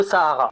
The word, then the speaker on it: Sahara: Je le prononce à l'arabe parce que je fais ce que je veux, ok? En gros, Sahara.